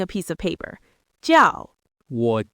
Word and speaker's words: 我: 我 is a third tone. It's a dip. You start mid-range, dip down, then come back up. 我. 我.